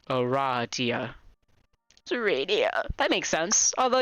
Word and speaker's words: Aradia: lot because she immediately corrects you it is pronounced Aradia yeah that makes sense although you've just met